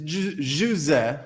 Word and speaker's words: José: It's José, right? That's how they say it in Portuguese.